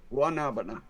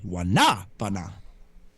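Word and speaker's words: guanábana: But that's the Guanabana. Yeah, that's it. Nope. Nope. Guanabana. Don't pronounce the G. Pronounce the G like it's a W. Guanabana. The second ah is accented. Wanabana.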